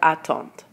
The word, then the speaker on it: attendent: vous attendez, il, elle attendent. So you'll notice with je, tu, il, and elle, you don't pronounce the D, but with nous, vous, and il, and elle plural, you do pronounce the